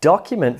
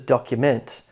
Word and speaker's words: document: What about document versus document? As in, I made a document to document the risk. Can you hear the subtle shift in stress there?